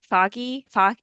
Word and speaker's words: Fahey: And her character, Megan Foggy, is that how you Fahey, pronounce it? just Fahey? Fahey.